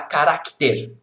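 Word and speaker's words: carácter: Lá em Portugal tem C ainda, tá? Caracter. Só que ninguém pronuncia o C, eu estou pronunciando para que você perceba.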